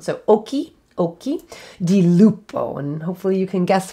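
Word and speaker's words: occhi di lupo: hard k sound so if you ever see a ch in italian if it's an italian word it is pronounced with a k sound so oki oki di lupo and hopefully you can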